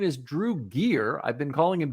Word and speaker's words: Drew Gier: And I just learned I've been mispronouncing his name all this time. His name is Drew Gear. I've been calling him Drew Guyire, but Drew Gear is his actual name.